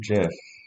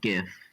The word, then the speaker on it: GIF: times they are wrong it's a soft g pronounced jif well i'm just going